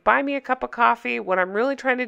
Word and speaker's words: Ko-fi: I believe it's pronounced coffee. It might be Ko-Fi. Don't care.